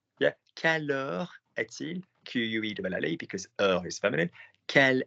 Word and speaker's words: quel: Q-U-E-L-L-E, because heure is feminine. Quel est ton restaurant préféré? Q-U-E-L. Yeah. Quel is pronounced differently. It is pronounced the same, but written differently.